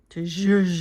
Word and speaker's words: zhuzh: I have enough stuff, and I really could do more to zhuzh it up or spice it up.